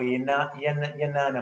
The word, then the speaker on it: jnana: Then the same mudra, if you want to turn it upward, becomes a jnana mudra or yanana mudra. So the J can sometimes pronounce as a Y, yanana mudra.